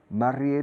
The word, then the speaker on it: married: Married se pronuncia mare, married. Como air, hair, married.